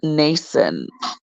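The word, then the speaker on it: Mnason: with them one one nation of Cyprus and guys that is spelled with an M then n m n a s o n n n I'm just going to leave that M silent an old disciple with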